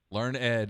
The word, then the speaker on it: Learned: Our friend Avery says it's Learned. Learned is how it's pronounced.